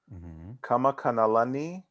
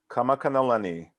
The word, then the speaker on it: Kamakanalani: So my middle name, so my whole name, Quinn Kamakanalani Kelsey. Kamakanalani. Ka Makana Lani.